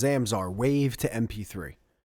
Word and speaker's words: Zamzar: Okay, it's called Zamzar. It's spelled Zamzar.